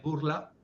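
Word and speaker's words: Bourla: fiser Albert burla también el apellido burla pronunciado en francés Albert burla tiene bemoles y es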